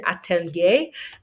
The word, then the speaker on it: Atelier: Food Atelier is how you say that.